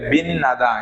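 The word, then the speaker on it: 빛나다: পরে কি এসেছে নিউন এসেছে তাহলে এই তর উচ্চারণ কি হবে যে তনা হয়ে দুন তেন হবে তাহলে কি হবে বিন নাদা কি হবে বিন নাদা আশা করি এটা বুঝতে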